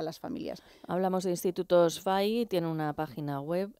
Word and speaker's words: Fay: Hablamos de Institutos FAI, tiene una página web, el FAI se escribe F-A-Y, ¿qué significa?